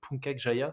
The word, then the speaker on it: Puncak Jaya: Et en termes d'accès, que le plus difficile, c'est le Puncak Jaya, c'est Oui. ça, c'est comme ça que tu le prononces, Ouais, Puncak, Punta Puncak.